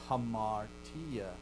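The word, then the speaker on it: ἁμαρτία: But you'll then see hamartia. Both begin with alpha. One has no breath, right? Anthropos. One has a breath. Hamartia. You have an H sound at the front of an aspiration, okay?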